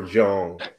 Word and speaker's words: Jeong: How you pronounce Sarah's name? Sarah Jeong.